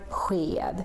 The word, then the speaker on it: sked: So if you see SK with any of these, then you should also make this sound. For example, in the word sked. Sked is how we say spoon. And here you can see we have an SK with an E coming after. So that's why it becomes this.